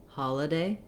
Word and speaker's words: holiday: I use the vowel, holiday, doesn't really make much difference. I just don't want a lot of length there. That's what's called a reduced vowel in an unstressed syllable.